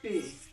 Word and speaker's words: pay: जैसे PAY आएगा तो इसको हम लोग बोलेंगे पे, ठीक है।